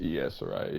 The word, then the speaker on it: Saraya: They brought back Paige, her former Paige, Saraya, whatever you want to pronounce it as. She's I back. think You it's got safe to say Saraya. Saraya.